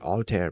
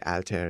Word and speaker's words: Altair: now I have to work really hard to forget that alter pronunci that alter pronunciation and say alter instead anyways um if if